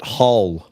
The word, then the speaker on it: Hull: Well, people from Hull pronounce it Hull. Hull.